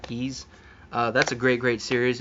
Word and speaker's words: Ys: of ease you know the y apostrophe s some people call it uh wise but i'm pretty sure it's pronounced keys that's a great great